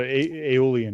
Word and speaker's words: Aeolian: we have again uh we have aolan I'm going to say uh I think that's how you say it golden spell that uh a e o l i a n how would you say that Jay can you uh help me I think I think you got aolon yeah that's would good as